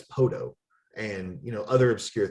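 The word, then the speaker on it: Poteau: huge advantage it's like nobody would know how to pronounce podo spelled p-o-t-e-a-u it's a french name and nobody would you know be able to look at that word instantly oh yeah that's poto and you know other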